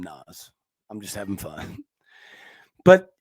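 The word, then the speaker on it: Naz: Now it's spelled N-A-Z, but I think they call him Nas.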